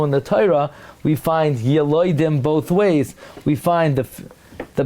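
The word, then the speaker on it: ילודים: So, by the way, clearly the Ran learns that the way to pronounce the word is not Yeludim, but Yiloidim. Because the Ran says the truth is Yiloidim, everyone agrees.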